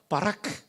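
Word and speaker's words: ברך: 민재 형제 발음 아주 좋았어요. 준비되어 있습니다. 바라크.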